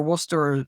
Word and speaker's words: Worcester: But the thing is, it's not just for your Worcester sauce and your Leicester.